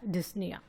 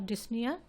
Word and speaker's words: dyspnea: is also called as dyspnea. See, P letter is silent in pronunciation of dyspnea.